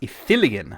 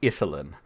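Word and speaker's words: Ithilien: It's Ethilian, not Ethylin.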